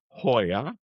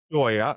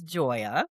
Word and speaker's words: Joia: So Joya I still look at it and say Hoya but it's pronounced Joya officially right officially. Yes it is Joya.